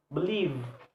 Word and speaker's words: believe: For verbs, word believe, believe, believe. This word, two syllables, and the stress is the second syllable.